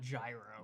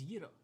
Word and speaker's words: gyro: That's actually how you Okay. pronounce that, not gyro. No, it's a gyro. It's euro. Okay, cool.